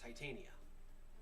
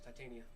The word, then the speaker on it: Titania: fairies and his Queen titanium no it's Titania no in the story